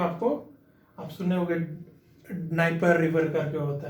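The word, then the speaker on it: Dnieper: Black सी में आपको, आप सुने होंगे डनाइपर रिवर करके होता है कुछ, वो भी यहीं से ओरिजिनेट होता है, डनाइपर रिवर या नाइपर रिवर, डी साइलेंट कर दो, नाइपर रिवर।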